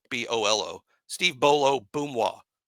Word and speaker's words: Boomwa: Steve Bolo Boomwa. B-O-O, like boom, wah.